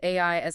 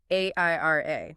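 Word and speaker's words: AIRIA: It really frames AI as a finite resource rather than just a fun novelty.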